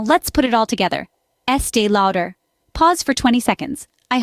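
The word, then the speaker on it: Estée Lauder: again louder now let's put it all together Estee louder pause for 20 seconds I hope you're practicing along remember pronunciation is all about patience and practice so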